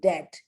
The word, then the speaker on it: debt: and many words exist like in debt d e b t but it doesn't it's not pronounced the other and also